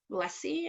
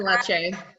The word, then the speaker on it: Lecce: Yes, Stephen Leslie, I want to say, I always forget how to pronounce his last name. Stephen Lecce.